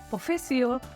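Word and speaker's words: professeur: अब देखिए इंग्लिश में भी प्रोफेसर बोलते हैं, सेम लैंग्वेज है, सेम स्पेलिंग है, सेम थोड़ा सा ट्विस्ट है इसकी pronunciation. Okay, in French teacher is प्रोफेसियर, okay.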